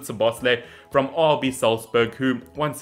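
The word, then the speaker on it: Szoboszlai: for the likes of dominic so boss so bosley so i believe that's how you pronounce it to bosley from rb salzburg who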